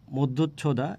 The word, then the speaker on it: মধ্যচ্ছদা: আমরা প্রথমটার নাম হচ্ছে মধ্য ছদা মানে উচ্চারণটা একটু কঠিন মধ্যচ্ছদা এটার ছবি বাংলা একাডেমী